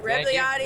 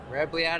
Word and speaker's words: Rebagliati: I'm saying it right? Rebagliati. That's it. Rebagliati.